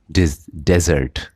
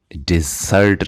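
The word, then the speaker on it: desert: It resided in द डेजर्ट. वो रहता है रेगिस्तान में. डेजर्ट माने रेगिस्तान, सहरा, और रिजाइड माने रहना. और ये आप इसकी प्रोनाउंसिएशन आपको सही करनी है. ये डिज़र्ट नहीं है बल्कि डेजर्ट है.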